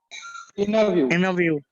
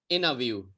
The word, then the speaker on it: interview: ये टी हटा दो, ई हटा दो और आर को आ बनाना है। अब बोलो सब लोग, ये बोलना है आपको। Interview. Very nice. Interview.